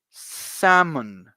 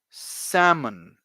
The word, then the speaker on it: salmon: this type of fish the L is silent the L does not produce any sound you just say repeat after me salmon one more time salmon there you go there